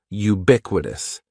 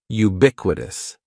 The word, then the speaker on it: ubiquitous: the first word is ubiquitous and ubiquitous has four syllables that first syllable is just like you're saying the letter U ubiquitous and the stress is going to be on that second syllable ubiquitous ubiquitous ubiquitous means existing